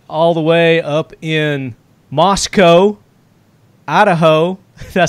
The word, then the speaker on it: Moscow: now we've got all the way up in Moscow Idaho I said it right this time yeah